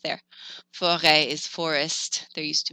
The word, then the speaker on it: forêt: If you have an E with a circumflex, it sounds more like an eh. So a forest is forêt. It happens on other letters like A, I, O, U.